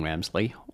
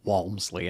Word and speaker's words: Walmsley: the winner did it in 14 hours Jim wemsley Walmsley I was mispronounce his name um it's not like the